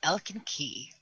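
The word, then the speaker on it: Elkin Kij: Key is spelled K-I-J. K-I-J, Elkin Key. Oh God, that actually sounds really cool.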